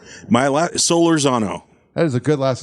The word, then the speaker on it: Solorzano: do you say your last name my last solar Zano that is a good last name yeah thank